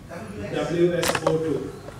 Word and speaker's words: WSO2: WSO2, like oxygen.